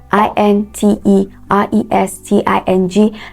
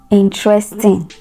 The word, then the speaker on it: interesting: t i n g that word is not pronounced in it's not pronounced interesting no it is interesting interesting so the the the stress is on the first syllable in interesting not interesting you have a word